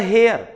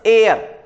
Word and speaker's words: heir: It's not the hair, it's air.